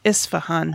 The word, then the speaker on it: Isfahan: s ph aan o Isfahan it doesn't sound like anything it's like it's spelled pretty much yeah yeah I would